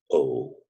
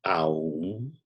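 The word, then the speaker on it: ॐ: superimpose infinity in Sanskrit the R and the ooh when is produced together a pronounced Oh so never pronounce home as ow it is pronounced oh it's called in sanskrit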